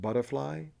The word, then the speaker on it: Buddhafly: You know, my original intention was to pronounce it butterfly, you know.